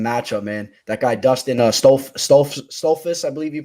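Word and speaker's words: Stoltzfus: That guy, Dustin Stolfus, I believe you pronounce it. Stolfus, yeah, something like Stolfus, that.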